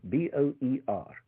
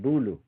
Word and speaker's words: boer: Now the Dutch word for farmer is boer, B-O-E-R. And they couldn't pronounce that soft R at the end at all. And so they replaced it, instead of saying boer, they said bulu.